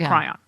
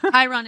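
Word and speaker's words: chyron: front of the the cryon isn't it Chiron I never pronounce everything right Kon Kiron is correct it's Kiron you should hear me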